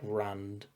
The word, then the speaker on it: Rand: like I feel like Rand, it being so short, like that single syllable, is really interesting. It's a good name for mm. a main character, apart from the fact that it rhymes with bland, which allows people to